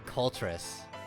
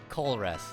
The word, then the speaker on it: Colress: Thank you, Copus, for telling me that there's no T in Colress. Because I've pronounced it with a T the entire time.